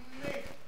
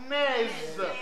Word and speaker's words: nez: Si vous prononcez, ce sera naise. Alors que le nez s'écrit comme ça avec une consonne qui termine le mot mais qui est muette.